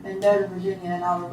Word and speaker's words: Mendota: Mendota, M-E-N-D-O-T-A, Virginia.